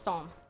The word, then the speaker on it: Psalm: The P is silent? Yeah, so it's Psalm.